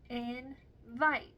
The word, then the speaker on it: invite: two different vow teams an example of a magic e syllable type would be like in the word invite in the word invite there are three vowels however the very last vowel is a silent E that does not have a sound that silent E is making the vow in the second syllable say its name Vite in the first syllable